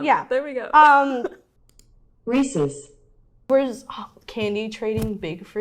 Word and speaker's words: Reese's: reese's reeses i say reese's no that's the debate how do you say reese's it's not ies it's just es i say reese's no